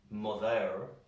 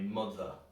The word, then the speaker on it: mother: So in a word like mother, we pronounce the O, the, but we don't really pronounce the E at the end. We kind of skip over it. We don't say mother, that sounds awful. We say mother.